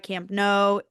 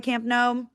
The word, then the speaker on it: Camp Nou: at the new Spotify Camp Nou. And I Googled how to pronounce it. It told me to pronounce it like the word no in English.